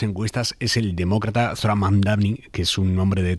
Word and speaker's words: Mamdani: Nadie sabe pronunciar mi apellido. Es Mamdani, pero a cada rato me dicen Mumdari, Mumnari.